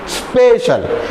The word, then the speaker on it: स्पेशल: जाए स्पेशल स्पेशल यानी इस स्पेशल नहीं स्पेशल अब यहां पर हमने एस को जो है बिल्कुल हाफ साउंड में कर दिया पी को हमने फूल फॉर्म में लिया स्पेशल कहां जा रहा है